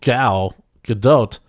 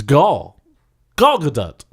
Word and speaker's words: Gal Gadot: And I've been watching, what that led to was me watching a lot of who I thought you pronounce her name Gal Gadot, but she says it's Gal Gadot.